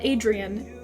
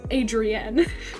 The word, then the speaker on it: Adrienne: No, not Adrian. Adrienne. If you pronounce it wrong, he will come for you.